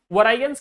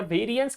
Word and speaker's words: variance: सबसे पहले वरायंस calculate करना पड़ेगा या वेरिएंस कैलकुलेट करना पड़ेगा, जो प्रोनाउंसिएशन लेना ले लेना आप लोग।